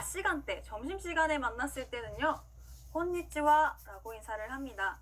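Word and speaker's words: こんにちは: 자, 낮 시간대, 점심시간에 만났을 때는요 곤니치와 라고 인사를 합니다. 자, 따라해볼게요. 곤니치와, 곤니치와. 네, 좋습니다. 우리 분명히 이 글자 하라고 배웠는데요. 인사말로 쓰일 때는요 하 발음이 아니라 와라고 발음한다는 거 기억해 주시고요.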